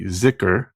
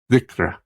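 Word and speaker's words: dhikr: Basics centering prayer Sufi ziker actually pronounced something a little more like zra but Americans can't say that so well but Sufi ziker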